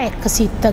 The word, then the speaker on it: EXSEAT: E in questo caso, proprio questo brand che si scrive, si pronuncia Exit, che a Napoli significa usi giù l'inora macchina praticamente, che tradotto in italiano sarebbe il sedile dell'automobile.